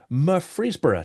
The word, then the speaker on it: Murfreesboro: Today he calls Murfreesboro, Tennessee his home. Just want to check. That's correct. And my pronunciation of it is correct too.